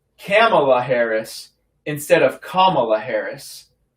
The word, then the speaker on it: Kamala: Her name is pronounced comma, like the punctuation mark la. Kamala. Okay? Kamala.